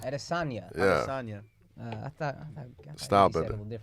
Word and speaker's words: Adesanya: Adesanya. Adesanya. Yeah. Sonia. I thought Stop you said it. a little differently than that, but whatever. Point all is- good. Adesonia.